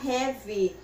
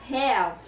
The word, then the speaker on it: have: Quando você pronunciar o verbo ter, você não vai pronunciar a letrinha E aqui no final. Você não vai falar have, você vai falar have. Para na letra V, você fala have, right?